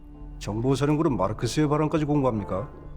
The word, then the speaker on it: 마르크스: 정보 사는구은 마르크스의 바람까지 공부합니까? 당시에 북한 간부라면 말스라고 해야지 마르크스라고 발음하는 건 북한 사람이 보기엔 어색한 점이라고 하네요.